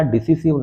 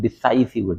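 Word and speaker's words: decisive: निर्णायक, डिसाइसिव, pronunciation याद रखिएगा, डिसिसिव नहीं है, डिसाइसिव, डिसाइसिव।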